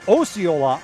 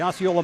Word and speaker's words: Osceola: Osceola, Florida, not to be confused with Osceola, Nebraska, or Osceola, Iowa. And yes, it is pronounced Osceola in Iowa. I learned that the hard way.